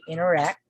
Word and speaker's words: interact: But usually we say interact, interact, interact. So the sound of T here is silent. Inner, we just say inner, interact.